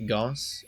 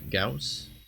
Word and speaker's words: Gauss: you pronounce this gauss apparently it's not pronounced goss it's a gauss probably a little frustrating